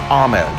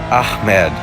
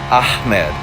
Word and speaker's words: Ahmed: you just can't anyhow the more proper way to pronounce that in arabic would be ahmed so not with a k is what i've heard not ahmed but ahmed please forgive me if